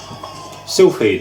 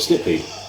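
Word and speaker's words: Silpheed: Sylphid, The Lost Planet. Quite an early shooter as well for the PS2. I used to call it Slipheed.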